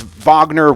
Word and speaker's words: Wagner: Uh France. Vagner. Wagner. I say Wagner. I'm not German. I'm American. It's Wagner. I'm not going to say Vagner.